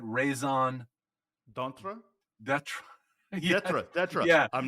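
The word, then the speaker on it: d'être: d'etre.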